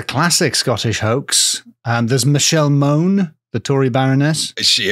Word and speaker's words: Mone: There's Michelle Moan, the Tory Baroness. Is she a big hoax? Well, first of all, I want to pronounce her name Michelle Monet, like Janelle Monet, so that's annoying.